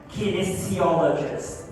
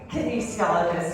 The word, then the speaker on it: kinesiologist: with you Jessica because I always have a hard time pronouncing your profession kin theologist did I say it right kinesiologist yes you're very on point there yeah and